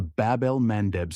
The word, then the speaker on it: Bab-el-Mandeb: It's a choke point most people can't even pronounce. The Bab-el-Mandeb Strait.